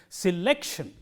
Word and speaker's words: selection: The rule is, if a word ends in tion, the syllable immediately coming before shun is stressed. That is the rule. So, in this word, the syllable immediately coming before shun is lek. So, lek is stressed. So, we say selection, and this rule is universal.